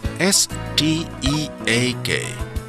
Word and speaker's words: steak: letter combination e a can also be read as a so be our e a K is break and ste a K is steak the letter combination EA can